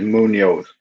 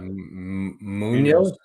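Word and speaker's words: Muñoz: I think it's Munoz. Yeah, Munoz.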